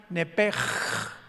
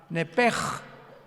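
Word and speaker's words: נפש: en el hebreo es nepesh, con SH al final, como suena nepesh. Pero la SH en hebreo se pronuncia como J, entonces se pronuncia nepej, como el francés, ¿verdad? Que es gutural, nepej.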